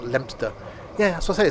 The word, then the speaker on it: Leominster: Craven Arms, Ludlow, Wofferton, Leominster, not Leo Minster, Morton on Lug, never heard of that, Shelwick, and then finally ended up in Hereford on part 1.